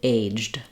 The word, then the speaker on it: aged: So for most of the time you're using this word, it's going to be just pronounced as one syllable, aged.